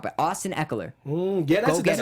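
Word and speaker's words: Ekeler: I'm going to pronounce this guy's name wrong, but Austin Eckler.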